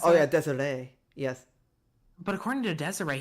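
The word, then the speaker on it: Desirée: Well, yeah, but according to, I guess it's Desiree, that's how you pronounce it? Oh yeah, Desiree.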